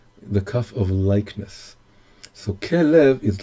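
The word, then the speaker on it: כלב: So this is, the little dots are the ways to pronounce the three letters. And the three letters remain the same, but we can read them in another way. We can read them as kelev.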